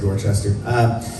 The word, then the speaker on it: Dorchester: You gotta say it like that if you're gonna say Dorchester.